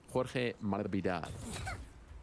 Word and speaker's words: Masvidal: Sounds like Jorge is asking announcers to drop the S in his name. Do you think he's trying to get closer to how you pronounce it? Is that true? Jorge Masvidal.